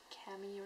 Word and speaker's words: Camille: Maybe Camille or Camille or something, but in French it's Camille, so yeah.